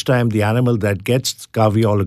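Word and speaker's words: kahweol: And amongst those constituents, there's something called caveol. There's another item called... How do you spell that? K-A-H-W-E-O-L, caveol.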